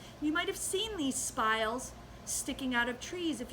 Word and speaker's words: spile: The next thing we need is a spile, and it rhymes with the word smile, and it looks like this.